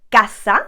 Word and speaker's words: casa: a couple of rules if the letter c is followed by a o or u we are going to pronounce it like a k kind of sound k for example casa like i've just told